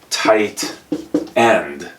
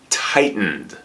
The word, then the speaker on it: tightened: past participle is tightened this is a hard word for some students to pronounce don't say tight end here or here it's tightened tight um the company